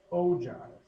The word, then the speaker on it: ogive: This next one is pronounced ogive.